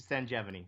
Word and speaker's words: Sanjevani: Now, I was pronouncing the name of your clinic wrong. It's Sanjevani. Sanjevani. I thought it was Sanjevani.